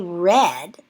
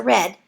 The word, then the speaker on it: redd: The female salmon digs the nest, called a redd, notice it's spelled R-E-D-D, by swishing her tail and flapping it up and down to loosen gravel in the stream or river.